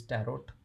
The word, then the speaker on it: tarot: for the longest time i used to call these tarot cards but like the nt is a silent letter so i'm going to